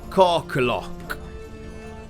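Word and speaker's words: Kirkolohk: really know if you know but it's called carcalok and i'll spell that for you it's k-i-r-k-o-l-o-h-k jesus christ these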